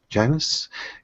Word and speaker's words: Janis: I have a guest with us uh Patrick Janis did I pronounce that right Patrick yeah yeah you pronounced